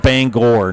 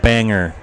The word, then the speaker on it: Bangor: And by the way, it's pronounced Bangor, not Banger.